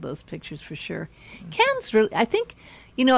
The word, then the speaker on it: Cannes: And I think it's pronounced Cannes, but a lot of people call it Cannes because they think it's going to be Cannes.